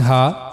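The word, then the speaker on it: ح: So for pronouncing Ha, we have to use the lowest part of the throat, which is on the chest side.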